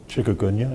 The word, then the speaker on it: Chikungunya: Chikungunya, am I pronouncing that right?